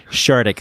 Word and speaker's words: Shardik: it's not like this it's called chartic i'm gonna pronounce it shardic thank you nathan not